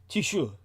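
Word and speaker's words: Taoiseach: And I believe that the Gaelic is pronounced because Celtic languages are impossible and they're never pronounced the way they're spelled. Something like tishu.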